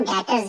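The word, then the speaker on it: debtors: इसका दूसरा नाम डेटर्स भी है। डेटर्स डी ई बी B silent है।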